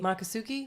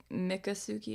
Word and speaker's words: Miccosukee: so yeah dick already maka Sookie maka Sookie no Mick Miccosukee Miccosukee sorry everyone Miccosukee ok Miccosukee I'm probably still gonna it up that's fine alright so the Seminoles in Miccosukee they've obviously been here